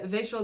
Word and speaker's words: Vachel: this is uid by Vel Lindsay Vel is spelled like Rachel with a V and it is pronounced like a vampire trying to pronounce the name Rachel you get that one